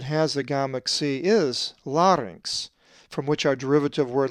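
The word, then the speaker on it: λάρυγξ: The double consonant gamma xi is always pronounced inx, as in larynx. A Greek word that has the gamma xi is larynx, from which our derivative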